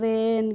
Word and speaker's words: rain: ऐसे ही RAIN का होता है रेन, क्या होता है, रेन होता है।